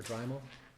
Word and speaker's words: Dremel: Is it pronounced Dremel or Dremel?